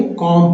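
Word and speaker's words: comb: सीओ एम सीओ एम बी कॉम नहीं पढ़ेंगे कॉम पढ़ेंगे कॉम कॉम का मतलब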